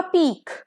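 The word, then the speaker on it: pique: P-I-Q-U-E का इसका pronunciation होगा पीक, एंडिंग विथ ख, ओके, KH, पीक।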